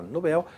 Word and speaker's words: Nobel: Não é dessa forma, porque Nobel é uma oxítona. Ó lá, Nobel. Tanto que o bel aqui é a pronúncia mais forte, né, da sílaba mais forte aí.